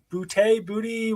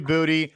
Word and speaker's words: Boutte: at LSU with Keyshawn Booty. What's the pronunciation? Everyone has a different pronunciation. I think it's Boutte. It could be Booty.